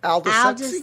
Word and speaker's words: Aldous: And tonight's quote comes from a gentleman by the name of Aldous. I might not say it correctly. Aldous Huxley. Aldous, there you go.